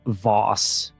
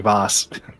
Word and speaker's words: Voss: So, uh, Wilmer Voss is the owner of the horse stables. Uh, I just realized it's very close to Vas or with Vas. Well, I mean, you pronounce it like Vos.